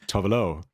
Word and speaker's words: Tove Lo: I danced to Tovelo before. Before. This was a whole discussion before the podcast. We talked for 10 minutes. Like, no, it's Tovelo. No. The stress is on low.